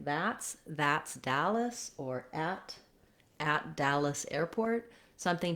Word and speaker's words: Dallas: Then when we move to Dallas, again, we have first syllable stress. And even though it looks like the word all in this video, we don't have an ah vowel here. We have an Dallas.